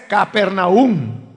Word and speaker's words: Capernaúm: por ponerle un ejemplo en la reina valera la ciudad de capernaúm se escribe sin tilde entonces he oído a personas que pronuncian capernaúm y he oído personas que pronuncian capernaúm pero en la nueva versión internacional ellos le ponen tilde a la final es decir que la pronunciación correcta es capernaúm hay ciertas palabras que